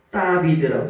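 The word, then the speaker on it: דוד: 따비드라고 있거든요 따비드라고 다윗을 다윗을 뭐라고 읽으냐면 따비드라고 읽어요 이게 요게 달래셔야 달래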